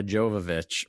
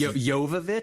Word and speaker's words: Jovovich: in this exact fashion, I would have said Ma Jovovich, but I am sure that's wrong. I'm going to go with Miaovich. It is Yovich.